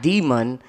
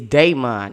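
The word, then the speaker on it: daimon: uh your Daymon because it's not demon it's dayon is d a i I think m o n if I'm saying it right so he was saying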